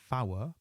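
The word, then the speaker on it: four: 4 is a new word, fower, fower, and 5 is fife, fife.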